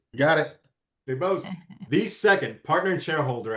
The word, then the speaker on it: DeBoest: So today, joining us today, we have Frank Valdez, Regional Director at Get Quorum, and DeBose. Am I pronouncing that right? You got it. DeBose, the second partner and shareholder at Go DeBose and Cross PLLC.